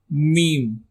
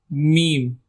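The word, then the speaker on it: م: The next alphabet is meme. Meme. Repeat after me. Meme. It sounds similar like meme.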